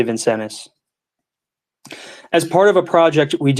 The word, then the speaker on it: Vincennes: It's spelled Vincennes, so it might be Vincennes, but I'm going to say Vincennes.